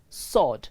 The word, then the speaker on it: sword: s-w-o-r-d it is pronounced sword the w is silent sword not sword the letter w